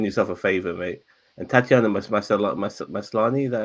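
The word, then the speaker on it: Tatiana Maslany: And Tatiana Maslani, that how you say her name?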